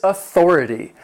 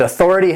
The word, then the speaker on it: authority: Number 6 is authority. And authority has 4 syllables, and the stress is on that second syllable. Authority. Authority.